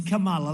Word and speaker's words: Kamala: It's Kamala, like a comma, Kamala.